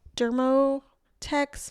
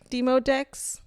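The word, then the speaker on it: Demodex: These are microscopic mites called dermoteex mites. They're very common. That's all they're saying. I have a feeling that's not how it's pronounced. Says der demo. Oh, it's not dermmo. There's no r deotech. Demodeex mics.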